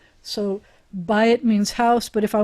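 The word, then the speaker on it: בית: kind of patterns so with the errors it was two segals ah but the byte is an ah whatever the consonant is here it's an i ye pattern so by it means house but if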